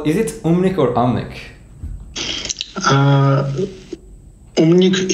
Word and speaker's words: Um_nik: Umnik is the correct pronunciation, but I respond to Amnik.